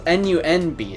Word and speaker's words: Nunb: it's 9 Nunb, but it's N-U-N-B, so is it Num or Nunb? But I do know it's 9. I think it's Num. I would assume the end B is silent.